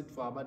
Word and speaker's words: Sudwala: The name pronounced in Swazi Sudwala, the name means the grass skirt of a married woman.